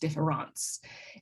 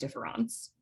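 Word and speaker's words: différance: have to say that it should never be pronounced difference dareda intended difference to be said identical to the French word difference which is also pronounced difference and you can see that the difference here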